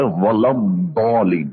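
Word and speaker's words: ولا الضالين: کے نزدیک یہ جو جس کو اردو میں ذوات کہتے ہیں اس کا مخرج دال سے ملتا ہوا ہے، ولضالین. ہم کیسے پڑھیں؟ غیر المغضوب علیہم ولضالین. اس کی آواز دال سے مشابہ.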